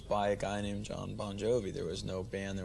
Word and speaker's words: Bon Jovi: So your actual name is Bon Jovi, isn't it? No, it's pronounced Bon Jovi. It's just the phonetics in Italian. The GI is the J sound.